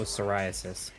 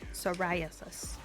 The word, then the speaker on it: psoriasis: word but that's cool oh psoriasis psoriasis the P tripped me up silent don't ask me why